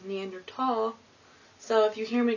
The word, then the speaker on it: Neanderthal: now some people say neander th some people say neander tall I think the correct way to say it is neander tall so if you hear